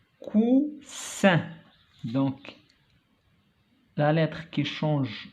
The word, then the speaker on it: coussin: donc cousin, coussin. donc la lettre qui change le son c'est S. Ici il y a une seule S. Cousin se prononce Z. Ici il y a deux S, se prononce S.